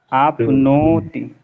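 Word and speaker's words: आप्नोति: हां नहीं अन्नम आपनोति आपनोति आपनोति दो का उच्चारण रहेगा लगता नहीं है पर है आपनोति बहुत ज्यादा दो आएगा ना यहां पे अपमा पंच में परे आपनो जैसे ने कहा वैसे आपनोति आपनोति आमनाय स्वर्णमनम [गला साफ़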